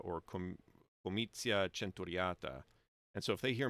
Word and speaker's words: comitia centuriata: So in church Latin, it would be comitia centuriata. It would do a ch there. So as far as 99% of English speakers today are aware, it's either comitia centuriata or comitia centuriata.